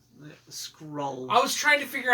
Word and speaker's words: Skrull: I heard Scroll. Well, I say it wrong. Skrull.